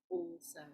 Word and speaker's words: also: So we're not pronouncing it as al, we're pronouncing it as all.